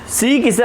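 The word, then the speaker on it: Czech: सी किसे अपन कहते हैं, इसका प्रोनाउंसिएशन सीक होता है, ठीक है।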